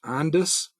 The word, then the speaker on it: Ondas: ONDS is, I believe it's pronounced Ondas.